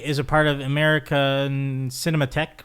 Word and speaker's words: Cinematheque: He is a part of American Cinematheque, right? Yes. Did I pronounce it right?